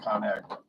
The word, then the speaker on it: ConAgra: And like they were saying, well, it should be ConAgri culture, right? But they said they thought it would sound strange for people to pronounce it, so they changed it to ConAgra.